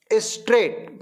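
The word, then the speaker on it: straight: स्ट्रेट. मेरे साथ बोलो. स्ट्रेट. क्या बोलते हैं अपन? STRAT. इसमें साइलेंट लेटर क्या है? IGH.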